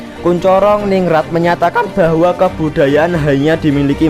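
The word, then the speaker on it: Koentjaraningrat: Menurut kalau zaman dulu tulisan NTJ itu bacanya TJ itu C. Kuncoro ningrat menyatakan bahwa kebudayaan hanya dimiliki manusia yang tumbuh serta berkembang sesuai dengan perkembangan masyarakat.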